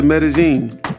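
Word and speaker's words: Medellín: man I went to medazine so for those who don't know that's how he pronounce it uh looking at the way it's spelled you wouldn't know that's how they pronounce it but yeah um that's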